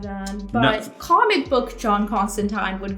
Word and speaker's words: Constantine: of John Constantine?